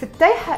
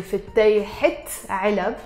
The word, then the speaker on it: فتيحة: For example, I can say هيدي فتيحة علب. In this case, I'm pronouncing the ت مربوطة. Why? Because it's followed by a noun, which is علب.